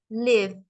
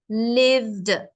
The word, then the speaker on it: lived: example live it becomes lived now what happens is it's l i v and the E is like silent and then it's D that's why lived lived so the E is